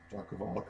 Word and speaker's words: John Kovalik: We have the Deluxe Edition with John Kolvac, I think is how his name's pronounced, artwork. He's, of course, the one who does Bork Tower. Kovalik. John Kovalik, okay.